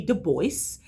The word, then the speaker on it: Du Bois: Du Bois. Now I know you actually pronounce the S, so living and learning, I learned something already.